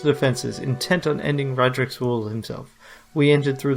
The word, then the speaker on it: Raedric: Radric, that was the way they pronounce it, Radric.